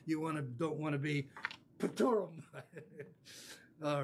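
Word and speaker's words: πτύρω: This word in the Greek is one of those words that almost sounds like spit. I'll have to cover my mouth to pronounce it. Spituro. Pituro, you get it? It starts with P-T-U-R-O. Pituro. Doesn't it sound like somebody spitting in your face?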